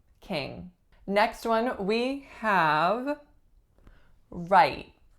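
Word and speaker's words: Wright: we have right right only one syllable again it has an entirely silent W at the beginning the vowel is one of those really low frequency vowels aye-aye and the way I'm saying it it has an unreleased T right right next one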